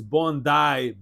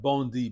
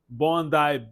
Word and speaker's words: Bondi: The pronunciation of the beach is Bondai Beach, not Bondi Beach as I thought, but here we go. The correction. Bondai Beach in Australia.